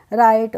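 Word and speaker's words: write: आई टी ई तो इसको हम राइट नहीं पढ़ते हैं क्या पढ़ते हैं इसको हम पढ़ते हैं रा यहां पर भी डब्लू से आर से पहले डब्लू आया तो यहां पर हम डब्लू का प्रोनाउंस एशन नहीं कर रहे इसलिए हम इसको पढ़ रहे हैं राइट और एक राइट यह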